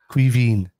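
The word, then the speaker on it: Caoimhín: Quiveen. Quiveen. No, Quiveen. Quiveen. Yeah, so like think of like almost saying Queen and then Quiveen. Yeah. That's the way we say it down south.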